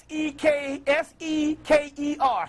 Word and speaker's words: Seker: Spell it. S-E-K-E-R, Seker.